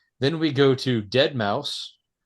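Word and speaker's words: deadmau5: then we go to dead mouse that is how you pronounce his name right I mean I know the S is sometimes a five yes still dead mouse okay dead mouse uh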